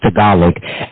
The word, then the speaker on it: Tagalog: but thank you for giving us the correct pronunciation which is Tagalog and I just want to stay with the